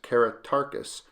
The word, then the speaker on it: Caratacus: for them experts believe keratakis means beloved teacher and may have been pronounced karatarkis a proposal corroborated by